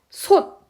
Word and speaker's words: 솥: 솥, 티귿이지만은 솥이라고 드로 발음이 됩니다.